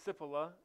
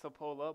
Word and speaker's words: Cipolla: good check from Chase sip Allah as I was informed that's how you say it not Cipolla buts if Allah excuse